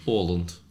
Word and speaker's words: Åland: Yeah, but you say it with like that A thing. Åland.